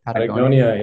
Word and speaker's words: Patagonia: Patagonia, yeah, sure.